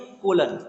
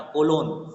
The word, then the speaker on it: colon: Value होती है वो किससे सेपरेट होती है, कोलन। ये जो दो डॉट है ना, टू डॉट्स है ना, इसको बोलते हैं कोलन, ठीक है, याद रखना, कोलोन, ठीक है, कोलोन बोलते हैं, ठीक है।